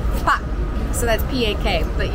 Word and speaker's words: pak: distinguished people are called pak. So that's P-A-K, but you kind of just pronounce it like P-A with a short stop.